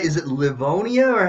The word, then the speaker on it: Livonia: Is it Livonia or how is that pronounced? Yeah, you pronounced it right, but I was born in Livonia, Michigan, but I Okay, actually live in Georgia, and I've lived here Georgia.